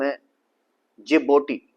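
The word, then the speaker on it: Djibouti: और यहां पर एक कंट्री है जिसका नाम हैबोटी ठीक है इसके स्पेलिंग डी से स्टार्ट है डी जे आई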